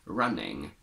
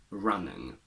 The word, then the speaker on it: running: used as a suffix we only pronounce it as ing never as on with the schwa at least in standard british english so we say running not running and that's it for